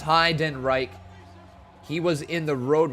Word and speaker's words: Heidenreich: Pronounced Heidenreich.